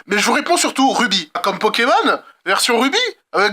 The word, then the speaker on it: RWBY: Ces 4 lettres se prononcent bien Ruby. Dans quelle langue, je ne sais pas, mais dans la série ils disent bien comme ça.